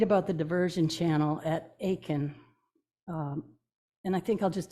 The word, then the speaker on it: Aitkin: at the bottom named Aiken and I was told it's not at Kenner Aitkin although it's spelled like that but they call it Aiken and the people there